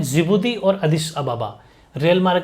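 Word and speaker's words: Djibouti: इट is also terminal station for द जिबूती Addis अबाबा। इसमें D silent रहता है rail route.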